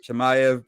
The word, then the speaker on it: Chimaev: you know let's get to the fight uh chemiev did i say it right yes you got